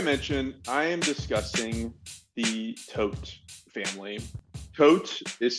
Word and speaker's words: Todt: Disney to be a perfect little town the tote family came from Connecticut to escape some criminal